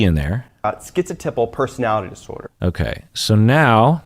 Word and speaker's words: schizotypal: is that people with schizotypal personality schizotypal so we hear the tie in there skits a typo now